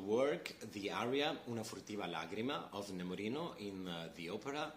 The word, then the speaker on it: lagrima: In modern Italian, you will listen to the word lacrima with a C, okay? But here we have to pronounce it with a D. So, lagrima.